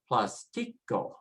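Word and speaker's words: plástico: It ends with a vowel, and so we should be pronouncing it as plastico, plastico, next to the last. However, they're asking you to change it by following the accent.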